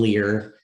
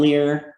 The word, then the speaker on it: Lehr: But anyway, his last name is spelled Lehr. John Lear, and then the guy he did a lot of comedy with on campus, his name was Jerry Saslow.